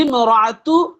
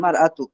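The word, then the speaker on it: المرأة: মান হাজিহি মান হাজিহি ইমরাআতু, এই মহিলাটি কে? যখন এই আলিফ লাম, তখন এই আলিফটা পড়ান। এখানে হবে মান হাযিহিল মারআতু, এই মহিলাটিকে।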